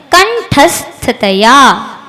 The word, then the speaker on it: कंठस्थतया: कंठस्थतया स को ठ के साथ ले लेना और थतया।